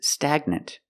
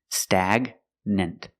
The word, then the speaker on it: stagnant: And this word, this is stagnant. The G is in the middle. So we pronounce it with a hard G sound. Stagnant.